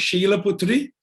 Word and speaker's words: Shaila Putri: 2 syllables, Shaila, or it is normally pronounced Sheila Putri. So the H is silent.